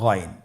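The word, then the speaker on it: غين: এবং আমরা জানি যে গাইন হরফটি মোটা হারাফ অবশ্যই একটু মোটা করে বলতে হবে আপনারা আমার সাথে চেষ্টা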